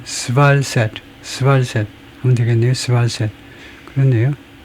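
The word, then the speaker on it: SvalSat: 발음이 스발셋 스발셋 하면 되겠네요.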